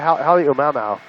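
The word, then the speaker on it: Halemaʻumaʻu: pronounce the name of the crater again for me while I'm doing a video? Yeah, Halemaumau.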